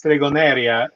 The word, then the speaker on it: stregoneria: In Spanish, it's stregoneria. In when you pronounce the Italian word, in Italian and Sicilian, it's stregoneria.